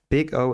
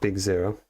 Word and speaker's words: Big O: Big O analysis pronounced big O, not big zero.